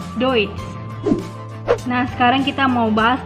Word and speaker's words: Deutsch: Kebanyakan orang menyebutkan Deutsch itu adalah Deutsch. Salah ya. Yang benar adalah EU dibaca OI. OI. Jadinya Deutsch.